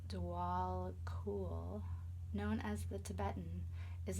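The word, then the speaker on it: Djwal Khul: Dwell cool, Dharma unfolding. Remember that you are on a path. Take one step at a time to happiness. Dwell cool, pronounced Dwal Cool, known as the Tibetan, is a Tibetan Buddhist master.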